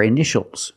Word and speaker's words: initial: patient and this word initial or initials more than one we see Tia together so that t is pronounced initial initial my initials